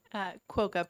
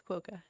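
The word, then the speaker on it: Kwoka: And Senator Perkins Coawa. Is that how it's pronounced? Quokka, Perkins Quokka. Quokka. Okay. Oh, the KW is the Q as in, okay, like in Kuwait.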